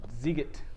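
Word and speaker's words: Sziget: Can you pronounce it? The Shibizbid? The Ziget.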